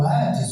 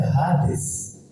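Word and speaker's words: ᾍδης: não foi para o ades ou hades que a pronúncia certa é rades no grego, certo?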